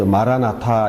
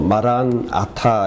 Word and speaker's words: 마라나타: 연어 및 왜 가지 마라나타 이렇게 헬러 s 로 발음 했는데 저는 좀 다름이 잘못했고 마라나타 이렇게 바르면 됩니다 주님 오셔서 어이 버너